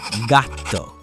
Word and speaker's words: gatto: On one hand, we have gatto. Hear that hard G sound? Gatto.